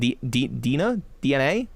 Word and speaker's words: DeNA: So I did a lot of work with DENA is how it's spelled. DNA. Why am I confused about that? I worked with them a bunch. DNA, who produced Pokemon Masters, the mobile game.